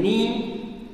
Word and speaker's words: knee: For example, the K in knee.